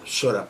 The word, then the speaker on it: psora: ¿Sora cómo suena? P, sora, psora.